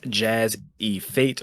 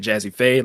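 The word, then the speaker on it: JazzEFait: me on twitter at jazz e fate or as it's supposed to be pronounced at jazzyfade like the you know hip-hop producer uh jazz the letter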